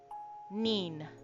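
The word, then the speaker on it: 人: N I makes a n sound and then we put an extra n on the end. Okay, so nin.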